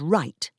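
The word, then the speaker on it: write: For example, the k and the w at the beginning of knee and right were lost.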